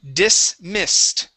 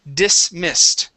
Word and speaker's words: dismissed: got okay very nice this word here is dismissed okay so all of those s's are unvoiced s's instead of dismissed it is dismissed try that dismissed okay